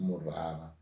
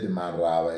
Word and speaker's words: Murava: To put it more correctly and appropriately, the whites who came and found the paramount chief Murava, they could not pronounce Murava. They said Marava.